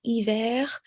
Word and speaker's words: hiver: Hiver. Hiver is, the R is pronounced as opposed to janvier.